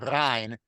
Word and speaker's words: rein: But that he would pronounce it rein to rhyme with two lines above sein, which is Right.